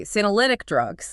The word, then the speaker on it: senolytic: Let me spell that out to you. S N O L Y T I C. Senolytic drugs.